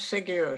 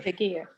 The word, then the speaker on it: seguir: So Segure, how do you pronounce Segure? Segure. It's just Segure. Segure. So the U isn't pronounced at all.